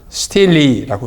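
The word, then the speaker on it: stele: 텔단에서 발견된 석비, 돌로 된 비석이기 때문에 텔단 석비, 영어로 하면 the 텔단 스틸리라고 읽습니다.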